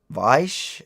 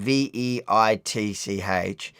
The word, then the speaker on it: Veitch: Charles Weiss. I'm pronouncing it wrong. So Charles and a surname Veitch.